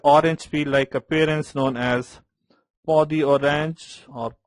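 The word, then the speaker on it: peau d'orange: there is an orange peel-like appearance known as podi-orange or pudi-orange, whatever it is pronounced as podi-orange.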